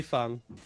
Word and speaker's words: Feng: It's been Fang for a year and a half. Your emotions don't trump objective truth, and the objective fact is that it's Feng. It's a Chinese name, and that's how you pronounce it.